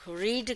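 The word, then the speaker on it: read: form plus object I रेड a book रीड का second form भी रेड होता है spelling will रिमन same only the pronunciation will be different she रेड a book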